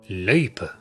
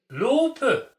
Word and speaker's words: løype: Unfortunately, mine was so misjudged. It was rather a thing of wonderment and fascination to other skiers. Lope! Loopy! Loipe!